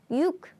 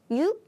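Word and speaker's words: 육: is five is o o o six is yuk yuk or yuk in Korean yuk yuk by the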